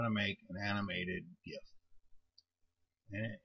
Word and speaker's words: GIF: to make an animated gif and it is GIF by the way it's not GIF GIF is peanut butter it's spelled with a J GIF with a G is GIF like gift or give but anyway I'm going